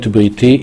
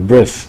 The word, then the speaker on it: brit: to Noah, V'hakimoti et briti itach. I'm going to sustain a brit with you. Right? Like brit milah, or a bris, as many Jewish Americans say.